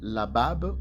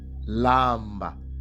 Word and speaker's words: lamba: Et ces mots-là ne se lit pas labab comme les prononce ici Edom, mais ça se lit lamba, lamba, kulamba.